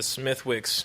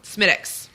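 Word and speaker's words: Smithwick's: whereas you this the smithwicks maybe uh smittix but it is spelled smithwicks it's like how I'm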